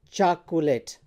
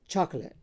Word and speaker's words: chocolate: So it's neither chocolate nor chocolate, it's chocolate. So here you can see the stress is on the first syllable, chalk, and then this is a short vowel called schwa.